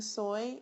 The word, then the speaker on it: soy: soy de Omaha now when you're pronouncing soy it's just like the sauce soy and what I'm asking